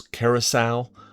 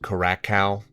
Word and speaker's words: Curaçao: A couple years ago, Constance Reyes corrected me on how to pronounce Curaçao. I think I pronounced it Cura cow on that quiz, but thank you to Constance for pointing that out.